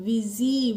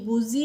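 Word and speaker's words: busy: तो बी यू एस वाई को हम पढ़ते हैं बच्चों विजी। बुजी नहीं पढ़ते हैं।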